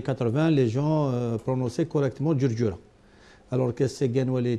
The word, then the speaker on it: Djurdjura: Dans les années 80, les gens prononçaient correctement Djurdjura.